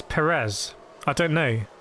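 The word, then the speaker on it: Pérez: 1 2023 season Steven there's an A on the first e to show you where you put the action it's not Perez it is Perez I don't know how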